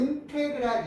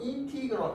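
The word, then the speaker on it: integral: 자, 그래서 옛날 선생님들은 어떻게 하냐면 인테그랄 이렇게 얘기해. 인테그랄. 왜냐면 t 이렇게 가거든요. 그래서 t라고 테라고 읽어서 옛날 선생님들은 인테그랄이라고 얘기하고요. 요즘 이제 원어 있는 원어 주어졌잖아. 알겠지? 정식 발음으로 인티그럴 이렇게 얘기해.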